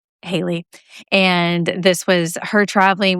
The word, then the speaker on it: Hali: If you saw the title, her name is spelled Hali, pronounced Hali.